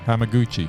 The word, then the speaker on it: Hamaguchi: Hamaguchi. Yeah, Ryaguchi. No, Ryuk. Say it again. Ryuk Hamaguchi.